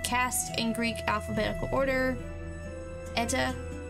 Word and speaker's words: eta: in Greek alphabetical order ETA is a long e as in Tabby and Epsilon is short